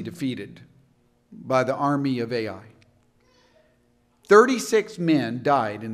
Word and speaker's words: Ai: the name of AI actually the Hebrew pronunciation would just be AI because it was such